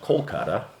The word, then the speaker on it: Kolkata: on our arrival to calcutta which is now pronounced kolkata we were dispatched to